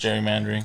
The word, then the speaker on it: gerrymandering: it's spelled with a G, but it's pronounced gerrymandering.